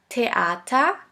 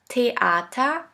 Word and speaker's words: Theater: Now the last letter combination, TH, TH, which is simply pronounced like a T. Here we have the example of the word Theater, Theater, which means theater.